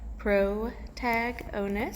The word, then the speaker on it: protagonist: to that one so protagonist pro tag onus a little pronunciation underneath is the main character